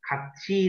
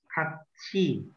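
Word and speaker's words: 같이: Ok, nhưng mà Trang phát âm một chút kati này không phải kati đâu. Nè. Đây đọc là kachi.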